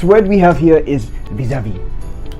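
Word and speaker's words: vis-à-vis: we have here is visavi vis-a-vis right that is the correct pronunciation you know in relationships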